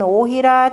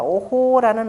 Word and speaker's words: 於戲: 거기에 보면 오희라 전왕불망이라 하니, 그죠? 희자는 역시 어조사 개념으로 씁니다. 오호라는 의미로, 그러니까 오희라라고 하는데 읽을 때는 뭐라고 하냐? 오호라고 읽으셔야 됩니다. 오호라, 그죠? 또는 오희라, 오호라.